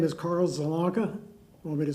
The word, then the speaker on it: Zielonka: My name is Carl Zalonka. Want me to spell it for you?